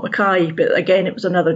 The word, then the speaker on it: McKay: Well, it's actually pronounced McKay by Scottish people. Oh, so it's a Scottish thing. As it's explained in the book, it's not an English name and it doesn't follow English rules.